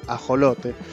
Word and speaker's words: ajolote: la real academia española la palabra se escribe con jota y obviamente se pronuncia también con jota ajolote sin embargo esta discusión